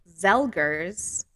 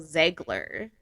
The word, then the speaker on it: Zegler: So apparently I pronounced Rachel Zelger's name wrong. Apparently it's Rachel Zegler.